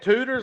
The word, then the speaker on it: Tudor's: I've never had them, but I believe Tudor's is what he was telling me. Dang. But yeah, is that how you say it? Tudor's, like rooter to the tutor? I think so. T-U-D-O-R, yeah.